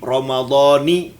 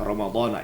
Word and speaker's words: Ramadhani: Kenapa baca Ramadhani? Nah, ini karena apa namanya? Mudhaf dan dimudhafkan kepada hadhihi sanati. Jadi bacanya an Ramadhani hadhihi sanati. Walaupun banyak orang baca Ramadhana, ya biarinlah.